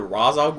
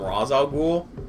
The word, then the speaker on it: Ra's al Ghul: right ray Jean google it's either Ra's al Ghul or ratio cool I think rage is actually the proper one but an arrow what